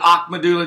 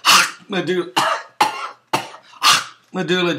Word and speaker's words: Ahmadinejad: to be kidding me a medulla let me say it right H Mulla of Iran you've got